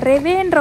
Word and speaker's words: REWE: Okay, so இப்போ வாங்க வீட்டுக்குள்ளே போயிட்டு நாங்கள் வந்து இன்றைக்கி ரெவே சூப்பர் மார்க்கெட், ஆமாம் கரெக்டாக தான் ப்ரொனவுன்ஸ் பண்ணுறேன், ரெவேன்னு ஒரு சூப்பர் மார்க்கெட் வந்து போய் எக்ஸ்ப்ளோர் பண்ண போகிறோம்.